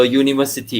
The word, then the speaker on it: university: answered okay uh university yeah remember this is a u sound so a university okay number seven